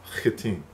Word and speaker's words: Hittim: the Hittites, or the Hittim. Hittim is the correct pronunciation.